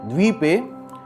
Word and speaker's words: द्वीपे: ओम तत्स दद्यै तस्य ब्रह्मणो द्वितीय परार्धे श्री श्वेत वाराह कल्पे जम्बू द्वीपे, इसमें बड़ा ऊ है, जम्बू द्वीपे, द्वी बड़ी है, द्वीपे भरतखंडे आर्या वर्तैक, इसको तई बोलेंगे, ठीक है जी, आर्या वर्तैक देशांतर्गते पुण्यक्षेत्रे कलियुगे कलि प्रथम चरणे।